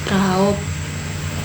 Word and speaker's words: raup: Sedangkan ada suara u miring, dibacanya o. Contohnya raup, biong. Itu huruf u dibaca o.